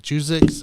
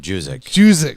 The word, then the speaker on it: Juszczyk: Was it Juzik? How do you say his name? Juzik. Yeah, you said it right the first time. Juzik. Kyle Juzik.